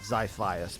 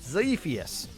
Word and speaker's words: zus: was won by zus I think I pronounced that one correctly I know it's not zias but zus Dynasty took second place